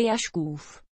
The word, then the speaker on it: Jašków: Robert Jaškov má tři děti se svojí manželkou herečkou Petrou Bartošovou Jaškovovou. Má původem polské jméno, které se vyslovuje Jaškův.